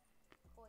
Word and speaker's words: Coi: And actually, Coy is spelled K-O-I like the fish. Like the Coy fish. But I'm C-O-I.